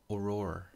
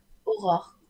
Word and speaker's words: Aurore: Aurora. Aurore. How do you say that? It's so hard. It's Aurore.